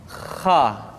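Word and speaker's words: خ: atau lebih praktisnya pengucapan huruf k persis terdengar seperti orang yang tidur dalam keadaan mengorok Kha khi khu bakh Kha demikian perhatikan latihan berikut ini KH khub KH Minal kesalahan berikutnya pada huruf K adalah suara yang tidak menebal padahal huruf k memiliki sifat Al ada sebuahidah semua huruf yang memiliki sifat mesti ucapkan dengan suara yang tebal perhatikan diucapkan dengan suara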